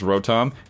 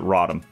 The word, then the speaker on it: Rotom: I say the name Kirk incorrectly it is pronounced Rotom you will never get me to do it I will always pronounce it rotten that said Leon still gets lost so so